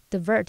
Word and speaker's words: divert: 它的字首 in 表示在点点点之中，在点点点之上。字根 vert 表示翻转，那当我们把东西可能是内外啊或上下翻转，它就会前后倒置或是上下颠倒。那用这个方式也许可以联想到 invert 它有使倒置使颠倒的意思。第二个补充的是 divert 或是念作 divert，它的字首 di 表示分离或是从什么什么，那么字根 vert 表示转，我们就可以用转移到旁边来联想说 divert 它有使转向、使改道或是转移，像转移注意力的那种语义咯。好，那以上今天重点整理，我们回顾今天单字吧。